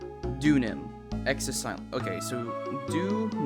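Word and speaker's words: Deauxnim: uh oh let's see it is pronounced dun Nim ex Sil okay so dun Nim Miss dunam got it thank you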